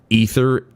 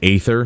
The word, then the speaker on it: Aether: the Final Fantasy series to AE instead of just eth I generally pronounce it Aether but I pronounce The Ether there because I've heard it so many times in 14.